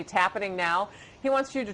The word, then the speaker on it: Tappening: Go to, I try not to ever plug any of my businesses, but Tappening, which rhymes with happening.